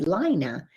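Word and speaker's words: Laina: and his name is spelled the way my name is l-a-i-n-a lina and since um i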